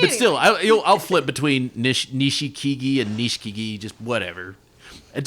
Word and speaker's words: Nishikigi: You know how the Japanese kind of truncate some of those vowels. You say Nishikigi, and then you hear other guys pronounce every vowel.